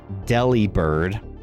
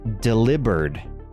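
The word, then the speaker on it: Delibird: So, his name isn't pronounced deli bird. It's delivered like he's delivering a package, which is why he's always giving gifts in the game cuz he delivers gifts.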